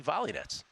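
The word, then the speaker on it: Volynets: old girl uh Katie volets uh numbers game listeners very familiar with our Katie volets bets in the past her last name is volets she became a professional tennis player she pronounced it volet by the way she's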